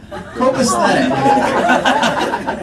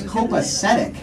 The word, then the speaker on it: copacetic: Copaesthetic. Okay, we really didn't know what that means, but we looked it up and we think he means copacetic, which is the actual pronunciation of it.